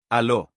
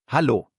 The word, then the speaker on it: Hallo: Notice that elongated a sound. Hallo. Hello. This is by far the most commonly used greeting in Germany. Go ahead, say it with me. Hallo.